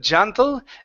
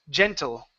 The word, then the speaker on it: gentle: in the middle so instead of gentle ja hey Jay gentle gentle gentle good his his aunt's voice